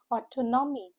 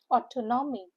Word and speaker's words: autonomy: Has four syllables. The stress is on the second syllable.